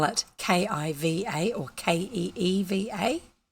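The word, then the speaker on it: Caoimhe: I might spell it k-i-v-a or k-e-e-v-a c-a-i-o-m-h-e is the actual Irish spelling of the name Kiva and I shall leave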